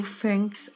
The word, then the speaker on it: fängst: Entonces es ich fange an y en el du cambia con la umlaut, se pronuncia la A como E. Du fängst an, er sie es fängst an.